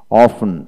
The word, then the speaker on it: often: তারপর আসেন ওয়ার্ডের মধ্যে STE বা STL থাকলে এক্ষেত্রে টি এর উচ্চারণ বিশেষ করে হয় না।